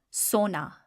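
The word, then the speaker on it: سونا: We've got the vow, creating the o sound, and we've got the aleph, creating the a sound.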